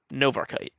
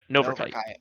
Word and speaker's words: Novarchite: And by the way, I did just get word that Nova's name, I just got the pronunciation on Nova's name. It's Novarchite. Novarchite.